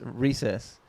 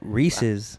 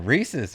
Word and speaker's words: Reese's: how do you pronounce recess you know the candy Oh I thought you said recess at first like playing at at lunch that's exactly what he just said Reese's yeah Reese's right Reeses yeah not recess say